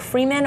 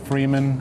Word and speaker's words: Freeman: Freeman or Freeman? Because it says Freeman, like the last name Freeman. But then you can also say Freeman. It's meant to say both things. I pronounce it Freeman.